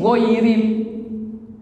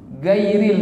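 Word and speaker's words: غير: jelas itu Gimana bacanya masih giril enggak ada G dalam bahasa Arab itu tidak ada huruf g gairil kita bacanya lalu kita mau baca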